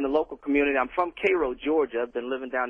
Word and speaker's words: Cairo: Cairo, like the syrup.